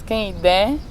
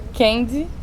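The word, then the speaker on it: Kehinde: africana, nascida no Daomé, Kenid. Ana Maria Gonçalves diz Kenidé. Tem uma amiga que é nigeriana e diz que tem uma prima chamada Kendi. Então é engraçado como essa maneira de pronunciar o nome da narradora vai variando, dependendo do leitor.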